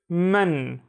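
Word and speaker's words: مَن: means from next one looks very very similar but it has a f rather than a here it's men men and men means who let's read some sentences so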